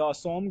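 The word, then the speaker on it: Assam: पहला क्या है द असोम गणा परिषर देखो असम को असाम कहा जाता है बट इसकी स्पेलिंग यही है अब दूसरा क्या है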